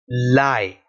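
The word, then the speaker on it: لَيْ: To pronounce a Ya Leen with Lam, the sound is going to be La and E, Lai, which has the first phonetic of Lam, which is L, plus the two combined vowel sound, Lai.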